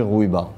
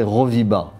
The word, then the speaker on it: Rouiba: le U et donc les Européens prononcé roviba et après quand on a dit Rouiba c'est on a toujours